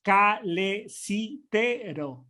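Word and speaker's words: calesitero: Sí, lo bueno del español es que se pronuncia igual que se lee, entonces es calecitero.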